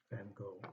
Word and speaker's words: Van Gogh: Grant, Geronimo, The Thing, Frida Kahlo, Diego Rivera, and Vincent van Gogh, or Van Gogh, depending on who's pronouncing it.